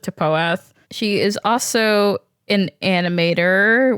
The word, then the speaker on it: TPOATH: paath or TP a don't know why we pronounced it toath this entire time it was just easier I don't know who calls it toath she is also an